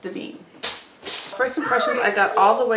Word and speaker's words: Devine: So it's it looks like divine, but it is pronounced Devine.